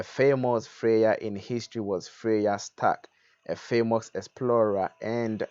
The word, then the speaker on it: Freya: Freya was the goddess of love in Scandinavian mythology, pronounced here as you can see as Freya. Freya.